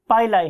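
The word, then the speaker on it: pili: बहुत से लोग इसे पिली भी बोलते हैं, लेकिन मेरियम वेबस्टर डिक्शनरी के प्रोनाउंसिएशन के मुताबिक ये पाइलाई है, राइट।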